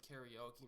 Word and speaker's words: karaoke: I think in Japan they pronounce it karaoke, but if you pronounce it karaoke, nobody will kill you.